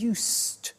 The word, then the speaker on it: used: verb used to well it's written you s ii d but the pronunciation is used and we'll see that